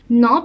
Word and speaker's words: knob: ال K هنا silent, ودي rule في ال English إن ال K لو جه بعديها N ال K بتبقى silent, مش بننطقها, زي كلمة know, knife, and knowledge.